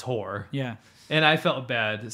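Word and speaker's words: Hoare: But H-O-A-R-E. Yeah, but still it's Whore.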